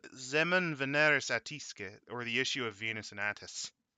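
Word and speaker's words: Semen Veneris Attisque: It's called Zemun Veneris Attisque, or the Issue of Venus and Attis. Actually, it would be pronounced Semen Veneris Etisk.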